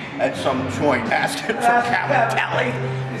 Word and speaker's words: cavatelli: And I told Erica, I said, you know, the way you pronounce that, the Italian is Cavatelli. Right? Cavatelli. Okay. Cavatelli, they say Cavatelli in English.